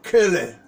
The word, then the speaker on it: Quelle: E Lucas e Mateus, eles, inspirados por Deus, mas eles tanto usaram a fonte que, a pronúncia no alemão é Quelle.